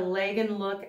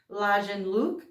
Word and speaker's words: Lagenlook: but if you don't, it's a German word for layered look, and I've heard it pronounced Lagenlook.